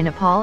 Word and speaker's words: Nepal: of a 2017 meeting with India's Prime Minister mispronounced Nepal as nipple and laughingly referred to Bhutan as button according